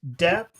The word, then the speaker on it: depth: Now, what you do is you just move your tongue under your teeth. You bite your tongue.